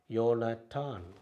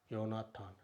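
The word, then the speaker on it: יונתן: It, comets, ah, noon, Sofit noon, அப்புறம் இன், யோனட்டான், யோனட்டான், யோனாத்தான், அது யோனத்தான் என்று சொல்லுவோம், ஜோனத்தான்.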